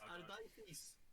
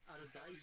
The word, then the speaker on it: Ardaithis: It's Ardaithis. Ardaithis. Dyslexic, okay? There's more consonants in that in that name than anything. but is that, The U is silent.